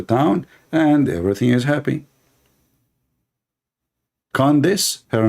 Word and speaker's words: Candace: How you say her name? Condonos? I want to share my condolence with your mom about having a kid like you. Her name is Candace, Candace, yeah.